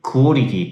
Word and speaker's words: Kuwalla Tee: コアラ T と書いてクオリティと発音するそうです。